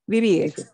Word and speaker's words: vivir: That has the B pronunciation, correct? Vivir. Always? Okay. Vivir. Yeah. Want to make sure I heard you correctly. B will always sound not like a V.